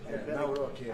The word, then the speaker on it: Nawrocki: Gave me a little different pronunciation. I said, I want to get it perfect. Did I get it right? Yeah. Good. Good. Nawrocki.